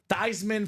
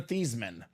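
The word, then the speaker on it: Theismann: Keep the name tman I am no longer a thasan the rest of the family is all thesans but he's a thyman there you go the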